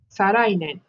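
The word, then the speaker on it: 再来年: So the year after next would be again the same as how we pronounce before. It's Sarai Nen.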